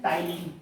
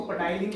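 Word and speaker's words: ptyalin: जिसे अपन बोलते हैं टाइलिन। क्या बोलते हैं? आपको नाम शायद होगा पता, वैसे हम लोग तो इसको पटाइलिन बोलते थे लेकिन ये टाइलिन ही ठीक है क्योंकि यहाँ पी साइलेंट होता है, टाइलिन, ठीक है।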